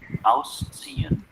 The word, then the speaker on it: ausziehen: It's not a z, it is a ts. Ausziehen.